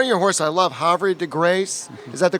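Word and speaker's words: Havre de Grace: didn't in one of your hores I love hary deg Grace is that the correct pronunciation is that's that's right I love that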